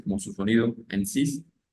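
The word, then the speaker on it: six: y se pronuncia s sis Sí esa x en este caso puntual va a sonar como una s y va a tener sonido y va a ser sis sis bien si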